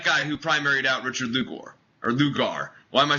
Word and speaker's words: Lugar: who primaried out Richard Lugar or Lugar why am I saying everyone's name weird with a u in it Luger Lugar it's Luger like the gun that's how you pronounce it I I know I